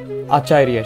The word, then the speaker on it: আচার্য: এখানে জ লেখা আছে 29 জয়ের উচ্চারণ আমরা জানি শিক্ষার্থীরা ইয়া। তাহলে আমরা উচ্চারণ করবো আচার্যা, পাণ্ডু পুত্রা নাম আচার্যা।